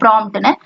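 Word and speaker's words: prompt: நமக்கு இந்த P சைலண்டா வச்சு நம்ம வாசிப்போம் ப்ராம்ப்ட்னு.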